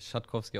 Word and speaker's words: Rzatkowski: Nein, also mein mein Nachname wird Schatkowski ausgesprochen und daher heiße ich Mark Schatkowski.